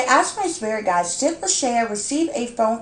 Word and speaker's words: Lashaya: this reading for um la shaya i believe is how you pronounce her name like i said lachey